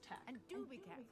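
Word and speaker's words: Teck: Echo Gregory Gregory Tech it's technically spelled te c k okay but it's pronounced Tech so it's like an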